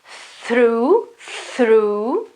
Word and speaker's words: through: Though, and the sound after the th sound, in this case it is quite narrow, through, okay, it's quite closed, and in this other case it is open, though.